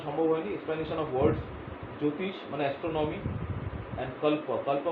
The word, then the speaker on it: জ্যোতিষ: জ্যোতিষা means astronomy, sorry জ্যোতিষ যেটাকে বলা, জ্যোতিষা নয়, জ্যোতিষ, JOYTISH, জ্যোতিষা means astronomy, Jyotish means astronomy, and this is the fifth one.